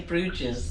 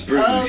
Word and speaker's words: Bruges: It's totally wrong, It's but we totally love how you say No, it. we say Bruges. It's Bruges.